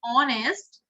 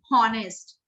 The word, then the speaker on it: honest: इसके अंदर h silent होता है, that's why I am pronouncing honest, not honest।